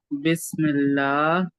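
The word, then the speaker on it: بسم الله: में बिस्मिल्लाह अच्छा वैसे बिस्मिल्लाह बेस्ट की स्पेलिंग है बी ई एस पढ़ना बी आई एस बिस्मिल्लाह बिस्मिल्लाह नहीं मजूल नहीं पढ़ना है मोटा नहीं पढ़ना है बारीक पढ़ना है बिस्मिल्लाह बस नहीं बिस बिस ही बोल रहा है गलत बोल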